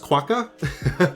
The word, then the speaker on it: quokka: kind of came onto the, I think it's pronounced Quokka.